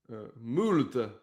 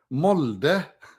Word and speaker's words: Molde: Molde. No, Molde. Isn't O pronounced U? No.